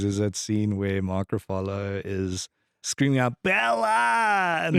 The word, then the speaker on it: Ruffalo: And there's a funny in Poor Things this last year in Poor Things is that scene where Mark Ruffalo is screaming out Bella, and that's straight out of Streetcar.